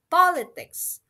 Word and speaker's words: politics: Ya, kita bisa lihat kalau di stress pertama itu kita bisa lihat contohnya di product, kemudian di politics ya.